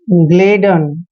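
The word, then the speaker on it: gladden: Next है जी एल A double D ई एन, ग्लेडन, क्या पढ़ते हैं इसको, ग्लेडन। जब भी जी के बाद कोई कॉन्सोनेंट आता है तो जी का उच्चारण ग करना है, ग्लेडन।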